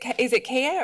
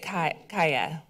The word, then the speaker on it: Kaiya: - Is it Kaiya or is it Kaiya? - It's Kaiya, she got it right the first time.